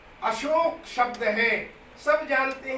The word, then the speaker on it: अशोक: कहते हैं उन मैं अशोक पाहवा अशोका गार्डन यह शोभा क्या है भाई मैं अशोक शब्द है तो हम अशोक का उच्चारण बिगाड़कर अशोका कर रहे हूं महात्मा बुद्ध ने